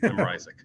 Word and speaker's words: Ryczek: My sister pronounced it differently. And we each have our own name. I'm Ryczek.